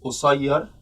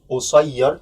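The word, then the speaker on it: قصيّر: Here there is shadda over the ya. This pronunciation is only in Egyptian dialect, and I think there's no other dialect that has this shadda on the ya in such adjective. So قصير, this is very Egyptian pronunciation.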